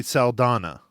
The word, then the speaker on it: Saldana: So on the person's name that I could not pronounce, Zoe Salamaka? Saldana.